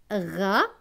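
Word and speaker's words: Raoul: hara ol aux usa elle se prononce houle donc cela donne raul raul c'est un prénom plus loin la lettre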